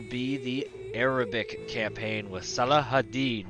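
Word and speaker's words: Salah ad-Din: the arabic campaign with salah hadid which is how i was told to pronounce it in the movie kingdom of heaven so without a further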